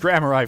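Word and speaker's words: Gramarye: grand magician okay so apparently Graham RI is pronounced grammar I first of all and it's a word of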